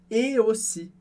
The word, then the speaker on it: aussi: E na palavra aussi, a gente tem o AU, que tem som de O, por isso, et aussi.